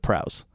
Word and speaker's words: Prowse: name wrong because there's so many things that rhyme with prowse Laos Grouse Mouse house Etc but then he started